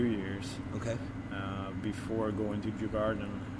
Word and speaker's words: Djurgården: I'm gonna be terrible with the pronunciation of this. Djurgården?